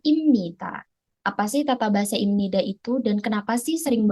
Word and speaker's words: 입니다: saya kenapa di sini tulisannya ibnida tapi dibacanya imnida itu semua karena ada huruf yang mengalami perubahan jadi si huruf bep ini dia ketika bertemu dengan huruf nian maka dia akan berubah bunyinya menjadi huruf M jadi bacanya bukan ibnida melainkan imnita jadi ibnida dan